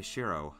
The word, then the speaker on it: Shiro: correctly uh the first time i've heard it pronounced like that too no if you have trouble remembering it you can call me shiro that's my name shiro oh it's an easier